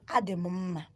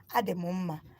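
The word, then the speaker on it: Adị mma: You now say, Ademumma. Ademumma. Let me spell it down.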